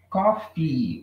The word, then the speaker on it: coffee: Então, veja que eu estou fazendo I no final, né? Muito importante que a gente coloque esse I aí no finalzinho, gente.